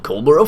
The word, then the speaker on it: Coldborough: It's been Farming Simulator 2015, playing on Coldborough Farm. Catch you. Is that the right way to say it? Cold? It is cold. Okay, not coal. Coldborough Farm.